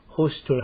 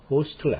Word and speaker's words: hostile: hostile이라고도 발음하는데 hostile이라고 발음하면 영국식의 발음이고 hostile 하면 미국식의 발음인 것입니다. 미국에서는 hostile act, 영국에서는 hostile act. 두 가지 발음이 다 맞습니다.